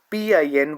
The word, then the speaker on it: pin: pronouncing this thing with P I N Y I N with the first tone. It is pronounced as pin. Pin. Pin like P sound and Yin.